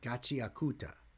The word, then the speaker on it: Gachiakuta: So, I can't say much on the lyrics, but the show it's it's made for its it's pronounced Gachi. Gachi Aakuta.